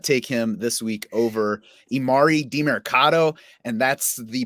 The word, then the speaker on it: Emari Demercado: I would not take him this week over imari marado and that's the pronunciation according to the pro football reference key